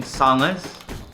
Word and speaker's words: sanga: They make chicken sangas. Sanga. I'm supposed to pronounce it as with an Aussie accent.